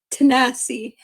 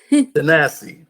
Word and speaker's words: Tanase: Now pronounce it if I'm right. Tanase? Tanase. Tanase.